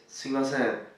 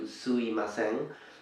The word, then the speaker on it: sumimasen: So the word is sumimasen, sumimasen. Some Japanese speakers kind of omit the M in between, changing it into suimasen, but it's not really proper, and it is better to pronounce it anyways.